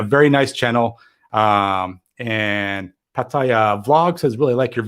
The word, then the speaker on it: Pattaya: busting me out for the way i said pattaya it's really with the thai accent oh man like every